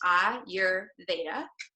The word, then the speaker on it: Ayurveda: pronounce the word Ayurveda because it's not an English word it comes from the Sanskrit language so it's pronounced ah your beta you guys can all